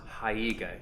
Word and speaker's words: haiga: And I just came across this recently, that I think it's pronounced haiga, Haiga, which is the visual representation that goes along with a haiku.